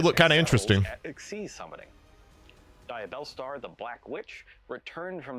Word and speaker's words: Diabellstar: I've been pronouncing that wrong, by the way. It's Diabellstar. I've been saying Diabellstar, but hey, you live and you learn.